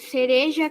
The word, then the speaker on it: cereja: tem um som forte já as palavras cereja Caramuru em R no meio e está no meio de duas vogais sua pronúncia é mais fraca e já as palavras